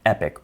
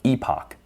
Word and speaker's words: epoch: We continue doing that for all of the samples in our training set, which is known as one epoch or epoch. You'll come across both pronunciations.